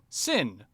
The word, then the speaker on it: Xin: All right, so the result I got was a 6, Sin, which is spelled X-I-N.